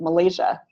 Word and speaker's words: Malaysia: I'm gonna try clapping Malaysia and I know it has three syllables so I'm going to clap it as Malaysia second syllable is longer and louder the unstressed syllables are